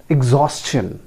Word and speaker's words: exhaustion: एग्जॉशन, एग्जॉशन जैसे सजेशन, कंजेशन, उसी तरीके से एग्जॉशन हम लोग प्रोनाउंस करते हैं। That is also wrong. इसको भी उसी तरीके से प्रोनाउंस करना पड़ेगा। इस वर्ड को भी हमको उसी तरीके से प्रोनाउंस करना है। The correct pronunciation is एग्जॉस्शन, right?